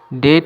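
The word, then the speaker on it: debt: Dead. এখানে be silent. ডেট মানে ঋণ।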